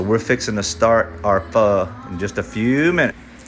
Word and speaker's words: pho: Vietnam, they call it pho. It's spelled P-H-O, but you almost pronounce it like fur, F-U-R, but the R is like semi-silent, so you say pho.